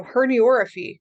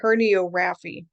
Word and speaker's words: herniorrhaphy: So herniorrhaphy. Now notice how that's pronounced. It's not herniorrhaphy, okay? Herniorrhaphy. It's kind of hard to say.